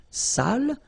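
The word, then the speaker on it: sale: without the accent so if you don't put the accent it means dirty and then you pronounce it Sal but in that case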